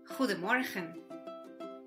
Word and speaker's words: Goedemorgen: La G, por ejemplo, suena gutural, fuerte y decidida. La combinación de vocales O, E suena como nuestra U hispana.